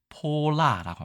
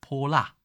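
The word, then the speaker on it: 泼剌: 이따가 설명을 드리기도 하고요 발음은 우리 발날보단 훨씬 더 파닥파닥 거리는 느낌이 강합니다 해볼까요 폴라라고 합니다 폴라 발랄이라고 합니다 이것만 있느냐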